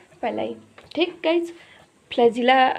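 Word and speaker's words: pili: ये देखिए, तो ये पाइलाई है, इसका स्पेलिंग होता है PILLI, पाइलाई।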